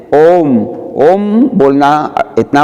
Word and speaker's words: ओम: ओ उम, ये ऊ नहीं है, ये क्या है? प्लुत मात्रा है। इसको मतलब ओ को 3 टाइम तक बोला जाता है। तो कैसे बोलेंगे? ओम, सही उच्चारण होगा।